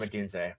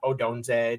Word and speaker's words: Odunze: I'll use the easiest example of Michael Penix and Rome Odunze, and it's pronounced Odunze. I'm not saying you pronounce it wrong, but just for anybody wanting to listen, it's Odunze, not Odunze, not Odonze, not Romeo, whatever.